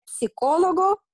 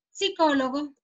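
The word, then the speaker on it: psicólogo: Ok, e come si legge psicologo? Psicologo, senza la P, psicologo.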